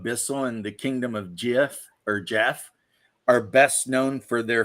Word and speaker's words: Geoff: guys whose names are Jeff that spell it that way. And I'm like, I call them Geoff to their face just to see them go like, no, it's Jeff. Well, it's spelled Geoff.